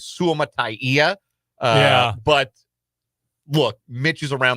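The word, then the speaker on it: Suamataia: We were told when he was drafted that it was Suama'atia.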